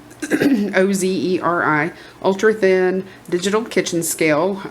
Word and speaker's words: Ozeri: I was sent this Ozeri, I guess that's how you pronounce it, Ozeri, ultra thin digital kitchen scale.